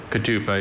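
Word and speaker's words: ketupa: Katupa is spelled K-E-T-U-P-A.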